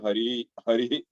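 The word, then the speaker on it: हरिः: इसको इह नहीं बोलना है, हरि हरि अह, हरि अह ऐसे प्रोनाउंस नहीं करना है, हरि ही, ठीक है?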